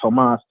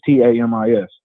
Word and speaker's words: Tamis: They say Tamis or Tomas, but it's Tamis, Tamis.